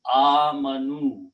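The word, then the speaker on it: آمَنُوا: Then waw is a sign of being plural, and alif is written but not pronounced. So the word is amanu when you pronounce.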